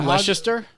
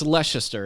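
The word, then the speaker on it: Leicester: So, anyway, this uh Leister Yeah, the Hogwarts Police Department. It's Leester, isn't it?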